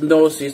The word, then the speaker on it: gnosis: so easily anyways this the greek word is pronounced no sees the g is science just like the way